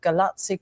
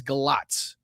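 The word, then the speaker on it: Galați: And I believe it's Galat the way that it's pronounced. I know that it looks like it's Galati, but I believe and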